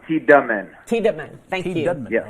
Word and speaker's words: Tiedemann: And is it Tiedemann or Tiedemann? How do you say Tiedemann. Second one, Tiedemann.